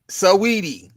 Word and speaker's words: Saweetie: Is it Swati? What? How you pronounce that woman name? I don't know. Oh, Saweetie. Saweetie.